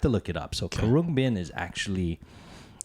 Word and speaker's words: Khruangbin: Karung Bin.